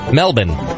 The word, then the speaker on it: Melbourne: capital cities in Australia Melbourne is Melbourne Melbourne with the bin part almost a BN Melbourne um and the I uh okay and without the I so Melbourne uh Brisbane